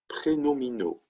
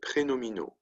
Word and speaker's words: prénominaux: Les adjectifs prénominaux. That's how you say that long word with all those X's. Okay, prénominaux.